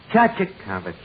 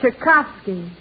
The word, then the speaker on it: Tchaikovsky: Chachakovich. And Debussy, Puccini, Bach, Tchaikovsky. Archie, that's Tchaikovsky. Oh, I mispronounced one of them.